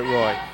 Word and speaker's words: Roy: Do we know for sure that it's Kyle Roy and not Kyle Rua? Well, I'm French. I would, even though I'm French, I would pronounce it Roy. Americanized version.